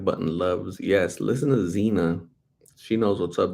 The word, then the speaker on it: Xena: loves yes listen to Xena she knows what's up there used to be a show called Zine I used to watch it was spelled with the X though x e and a it was Xena Princess